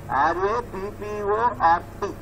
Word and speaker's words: rapport: R-A-P-P-O-R-T. It is, spelling is R-A-P-P-O-R-T, rapport. But you should pronounce it as rapport only.